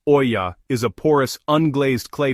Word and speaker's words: olla: Well, an olla, pronounced olla, is a porous, unglazed clay pot that's buried directly into the soil near plants.